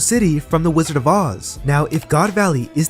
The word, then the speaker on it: Oz: with the wizard of oz since or's name is actually meant to be spelled and pronounced as Oz o z in Japanese the kanji